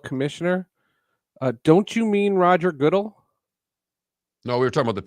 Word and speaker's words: Goodell: You don't know how to pronounce the guy's name? Goodell. Goodell.